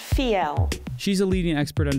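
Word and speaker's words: Fiell: this is Charlotte vo I ll and it's pronounced feel she's a leading expert on design and has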